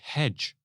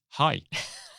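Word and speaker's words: hej: first day in Denmark saying hedge to people not realizing that it's pronounced hi oh I've never heard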